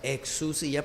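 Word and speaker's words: ἐξουσία: desarrollar exodus ya que por el diptongo que es la unión de dos vocales se pronuncia ex su silla porque la de mayor fuerza tónica anula la pronunciación de la otra fíjense ustedes que el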